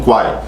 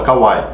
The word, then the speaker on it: Kwai: A pessoa, o brasileiro, ele não consegue enxergar aquilo como Kwai. Então ele vai acabar pronunciando a letra K e depois o A, então fala Kawaii. Mas o nome aqui, a